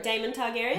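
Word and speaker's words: Daemon Targaryen: mix that up um that's the right pronunciation there damon targaryen yeah sorry yeah anyway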